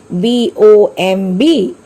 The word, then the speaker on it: bomb: The spelling of the word is B-O-M-B. Here B is silent, so we have to pronounce the word bomb.